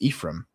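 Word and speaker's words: Ephrem: That's I think it's I think it's pronounced Ephraim, but it's on hymns of faith.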